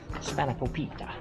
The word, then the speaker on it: Spanakopita: He understood me, so Spanakopita. Perfect and tested pronunciation.